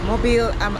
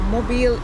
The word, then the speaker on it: Mobile: And we are in We are in Mobile, Alabama. Mobile, Alabama. So Mobile is spelled like mobile, M-O-B-I-L-E. So that's how they say it here.